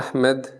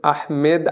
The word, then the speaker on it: আহমদ: আহমেদ আহমেদ। আচ্ছা আচ্ছা চট্টগ্রাম থেকে আসলে আহমেদ আরবিতে কোন উচ্চারণ হয় না বুঝছো উচ্চারণটা হয় আহমদ যেমন আমাদের রাসূল সাল্লাল্লাহু